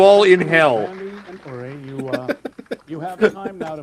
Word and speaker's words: Uri: Uri, it's the right pronunciation.